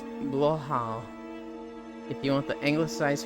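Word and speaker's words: Blåhaj: That is a 2-minute video for pronunciation. She says something the likes of Blue High. Blue Hatch. It's Blohau.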